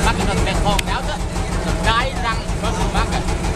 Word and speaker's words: Cai Rang: the biggest bustle market of Mekong Delta, the Cai Rang bustle market.